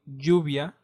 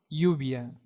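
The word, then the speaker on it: lluvia: crash Portugal live and when you see a Double L combined it will sound as in Jack mostly in Latin America and I think yet in most parts of Spain for example Juvia Juvia or ubia ubia that means rain and begano Villano that means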